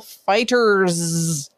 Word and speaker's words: FighterZ: In the meantime, however, I will talk about Dragon Ball FighterZ. FighterZ. I'm going to need you to spell that for me.